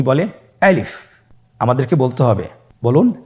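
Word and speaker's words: ألف: আলিফ। আমাদেরকে বলতে হবে বলুন আলিফ। আলিফে কিন্তু কোন টান নেই। আপনারা বুঝতে পারতেছেন আমি যখন আলিফ বলছি এর মধ্যে কোন টান হবে না।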